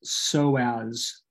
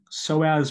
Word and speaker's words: psoas: is the psoas major this is pronounced so as has the z sound so as major and then this muscle